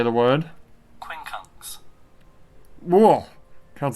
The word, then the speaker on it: quincunx: Quincunx.